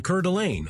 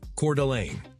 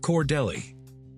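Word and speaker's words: Coeur d'Alene: Welcome to Curlain, Idaho. First off, yes, that's how you pronounce it. Cordelane, not Cordelli. Not Coer Delenny, just Idaho fancy.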